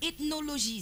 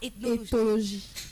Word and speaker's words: Éthologie: Alors aujourd'hui, Joyce va nous parler de ethnologie, c'est ça? Éthologie. Etho. Oui. Ah, tu as écrit ethnologie. Éthologie. C'est pas moi. Aujourd'hui, j'ai bien prononcé.